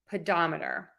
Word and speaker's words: pedometer: the da which is right before the murder pedometer again next word we're stressing right before the